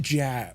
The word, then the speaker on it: Jag: It's pronounced Jag, right?